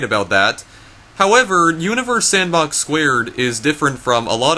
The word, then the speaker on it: Universe Sandbox²: go any further yes the reason I'm pronouncing it universe sandbox squared is because just like the trackmania square games the two in the title of this game is stylized as a superscript so because of that I'm going to be pronouncing it universe sandbox squared and not universe sandbox too so deal with it